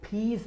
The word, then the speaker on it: peas: को यानी ब्लास्ट करना है फी, और इसको फीस बोलना है, फीस, यानी इसकी जो सही अदायगी